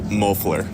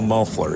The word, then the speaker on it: Mofler: been getting it right officially say your name for me mofler mofler yep see I keep saying it wrong so right we we'll